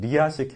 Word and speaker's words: 리아스식: 정확한 말은 리아식 해안인데요. S가 묵음입니다.